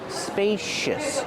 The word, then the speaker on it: spacious: these spacious cabinets pronunciation spacious use a long a like pay and say spacious the C makes a sh sh sound like shoes and show spacious use a relaxed sound at the end uh uh spacious I